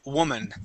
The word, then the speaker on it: woman: woman woman all right we don't pronounce that o like an o sound Wan that's not how we pronounce the word we say woman okay now when we're